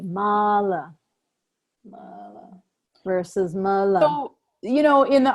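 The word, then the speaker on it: mālā: our teacher taught us Mala versus Mala so that's why the pronunciation in the written word is so key that makes sense to you yeah so Mala beads have the line over the a that's right because it's a long a Mala versus you know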